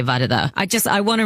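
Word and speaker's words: Varada: first school it was everyone just call me verdada and then you know sometimes it' be veranda which is it would be so frustrating that meant that when I moved school I wanted it to be you either say my name properly which is vada or you call me.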